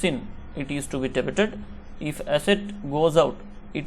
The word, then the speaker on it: debit: So some of the guys are pronouncing like debtor, so this is not debtor, actually cash account debit. It should not be pronounced like a debtor, it should be a debit, we should pronounce like debit.